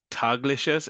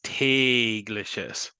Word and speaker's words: tägliches: So when an umlaut is over an A, that gets a long A sound. That's why instead of tagliches, it's tägliches. Okay, so an A with an umlaut is like a long A sound.